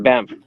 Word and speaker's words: Banff: Because it's like Step Brothers, where the dude goes bam. Like, why are you saying that? Bam. It could be spelled Banth and still be pronounced Banff.